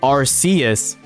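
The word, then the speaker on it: Arceus: Also, as a as a hobbyist writer, I can say with confidence it is in fact pronounced Arcus, by the way, due to how the letters work in English.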